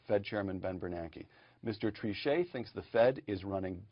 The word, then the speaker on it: Trichet: statements the journal noted jean-claude trichet throwing a little french pronunciation to raise the tone here quote came about